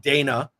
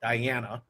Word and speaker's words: Dana: you've got Dana it's not Diana and then you got